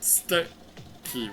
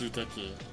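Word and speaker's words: すてき: I thought steki was the same, but it's suteki.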